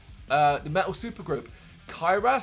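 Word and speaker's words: Cyhra: the metal super group kyra c-y-c-y-h-r-a i think that's how you say it they're on the saturday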